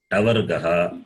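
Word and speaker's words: टवर्ग: The third class is Tavargaha. The T with the dot is there. That is the Ta. diacritical Ta. mark. And the fourth one is Tavargaha. Ka, cha, ta, tha. The first one is Ka, Kavarga. The second one, Cha, Chavarga. The third one, Ta, Tavarga.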